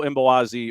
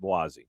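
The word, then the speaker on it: Mbokazi: South African center back Mbowazi. Yeah, he's been outstanding. Yeah, the M is silent, and you kind of have to take the consonants and just kind of mash them together. You can go Mbowazi or just Boazi, but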